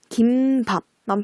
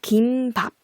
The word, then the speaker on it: 김밥: 네, 원래는 이 앞에 거 김밥 이것만 표준 발음으로 인정하다가 사람들이 김밥 많이 하잖아요. 그래서 이 김밥으로 된소리 덧나게 해서 사회소리 현상 일어나는 그 발음으로 발음하는 것도 표준 발음으로 허용을 해줬거든요. 그래서 김밥과 김밥 둘 다 표준 발음이에요.